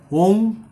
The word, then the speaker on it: ওং: তার উপরে একটা অনেস্বার অর্থাৎ ও এম বলে কোন শব্দ নেই এটা কিছু লোকের বানানো